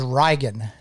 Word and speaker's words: Riagan: My real name is Rigan. Like, how would you spell that? Riagan. Okay. Rigan. It's the Gaelic Irish pronunciation of Reagan.